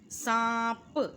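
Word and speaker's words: سانپ: सांप, इसमें भी नून साइलेंट है।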